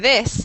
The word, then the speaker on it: this: This, the TH sound, which everybody has trouble with in English. To pronounce it correctly, you have to have your tongue in between your teeth.